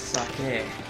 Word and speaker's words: sake: You would know it's pronounced sake.